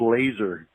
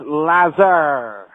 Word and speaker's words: Lazar: guy that could Bob laser Bob laser was are none that each letter is pronounced Lazar so I was wondering